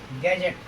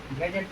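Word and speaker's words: gadget: गैजेट। गैजेट means औजार।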